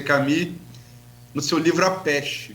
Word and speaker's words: Camus: No caso, Camus escreve, pronuncia Camus, no seu livro A